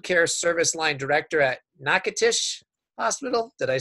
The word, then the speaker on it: Natchitoches: he's a wound care service line director at Natchitoches Hospital.